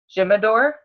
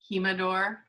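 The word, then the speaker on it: Jimador: going to our down Jim adore just lock it at me how do you say it kima door the J is silent in Spanish look see okay we're going to kima door it is the OREA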